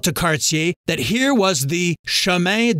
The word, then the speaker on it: Cartier: By the way, Jacques Cartier is pronounced Jacques Cartier in my neck of the woods.